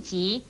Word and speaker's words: 革: 最后要注意的是，革字虽是一个常见的字，但也念吉的音，如病急是不可以念成病格的，特别